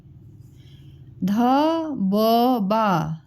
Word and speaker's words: धब्बा: ध ब बा, ध ब बा, ध ब बा। ठीक है, और सही उच्चारण क्या है? धब्बा। ध आधा ब और ब में आ की मात्रा बा, धब्बा।